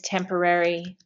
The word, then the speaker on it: temporary: The adjective is temporary. And the adverb is temporarily. Temporarily. So notice my pronunciation with temporary. Temporary. The accent is on the first.